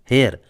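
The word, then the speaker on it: heir: उत्तराधिकारी है पत्रक संपत्ति का उसे बोलते हैं हेयर हेयर मतलब होता है वारिस हेयर की स्पेलिंग है एच ई आई R next है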